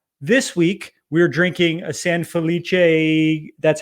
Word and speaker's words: San Felice: along with us this week we're drinking a san felice that's how you say it and i won't